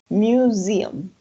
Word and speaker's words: museum: Sí, acuérdense que la S entre dos vocales va a sonar como una Z. Museum. Then you have shopping mall.